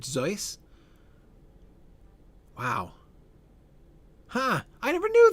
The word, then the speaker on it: Seuss: Zoe, Dr. Seuss pronounced his name Zoe.